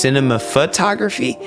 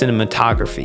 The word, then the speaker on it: cinematography: I thought it was pronounced cinema photography. No, it's it's pronounced cinematography.